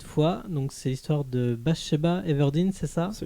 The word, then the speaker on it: Bathsheba Everdeen: Et cette fois, donc c'est l'histoire de Bathsheba Everdeen, c'est ça ? Absolument, il a bien prononcé.